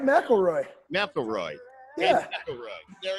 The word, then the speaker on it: McElroy: You said it right, McElroy.